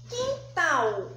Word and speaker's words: quintal: são oxítonas, como quando eu falo quintal, ó, quintal, vamos chamar quintal? Porque quintal não tem acento. Então, se não tem acento, eu pronunciei quintal, mas eu não consegui identificar qual é a sílaba mais forte.